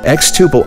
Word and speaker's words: xTuple: rmas to tax management x tuple understands the challenges exclusive to manufacturing it rhymes with quadruple and means to grow